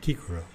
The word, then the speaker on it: Cicero: roman senator and orator cicero i read somewhere that that's properly pronounced kikro i'm not sure that